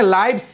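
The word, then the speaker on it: lives: তাদের অভা আছে এবাটন লিভন লিভ বলতে এখানে লাইভ হবে লাইভ উচ্চারণটা আমি লিভস বলব কি বাস করা বুঝাতে আর লাইভ দেখো আমাকে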